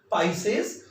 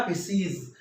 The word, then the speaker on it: Pisces: जो मीन राशि है उसको हम इंग्लिश में बोलते हैं पाइसेस या पिसीज. इसके दोनों करेक्ट प्रोनाउंसिएशन है, पाइसेस इज बेटर टू से.